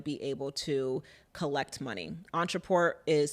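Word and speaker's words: Ontraport: you want to be able to collect money Entre Port is spelled o n t r a p o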